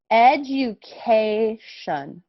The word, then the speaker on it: education: why we would say t-i-o-n this is usually pronounced shun in english okay so education shun